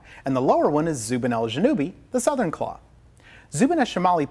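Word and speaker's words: Zubenelgenubi: means Northern claw and the lower one is Zubin juubi the southern claw Zubin shamali puts out 270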